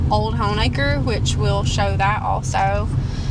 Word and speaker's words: Honaker: ones yeah yeah so that's why we pronounce it home acre and i didn't even